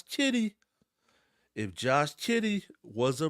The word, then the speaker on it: Giddey: Josh K if Josh Josh Kitty I said it right not Josh gidy Josh Kitty if Josh Kitty was